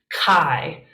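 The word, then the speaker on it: καί: greek bible and it is kappa alpha iota kai kai also i told a friend of mine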